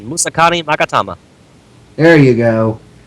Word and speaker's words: Musakani Magatama: 2 Bottomless, 3 of the Muskanaga, I can't pronounce it. The one that starts with an M. What'd you say, Natsu? I said Musakani Magatama.